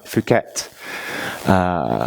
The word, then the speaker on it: Phuket: There's a tiny, tiny island off near the coast, near Phuket. That's how you pronounce it. Some people pronounce it in a ruder way, but it's not that.